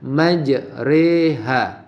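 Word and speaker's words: مجراها: Rohim nahdlatus kalian Mana bacaan imalah itu adalah yang berbunyi bismillah i5j reha jadi meja Roha dibacanya majreha jadi dicondongkan tadi jadi mulut kita dicondongkan meja reha tha Hai sudah jelas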